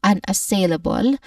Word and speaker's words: unassailable: When it comes to pronunciation, this word has five syllables. An assailable. The main stress is the third syllable sail. But we start with the first syllable un an which has you know a soft short weak a vowel sound here. So it sounds like un. Following this is a shwa sound. a short weak and stressed a vowel sound. Third syllable is our stressed syllable sail which has a clear a dip thong sound.